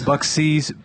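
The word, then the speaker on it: Buc-ee's: Bucksies? Is it? It's Bucky's. Bucky's? I don't know how to pronounce it.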